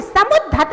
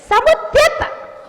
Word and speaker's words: समुद्यत: अरे समुद्धत नहीं है, समुद्यत, समुद्यत, समुद्यत, समुद्यत।